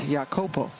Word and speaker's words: Iacopo: But she plays now for the Samoan national team and has gone back to the more traditional way of pronouncing her last name, which is like a Y sound, Jacopo.